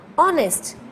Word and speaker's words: honest: Honest, it is giving you the sound of o. That's why it is also counted as vowel sound.